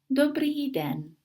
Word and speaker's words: dobrý den: The accent above letter Y means that it sounds tiny bit longer. Dobrý den. The emphasis is always on the first syllable in all Czech vocabulary.